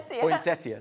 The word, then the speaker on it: poinsettia: Poinsettia. That gets everybody, doesn't it? Nobody can say it right. It's poinsettia.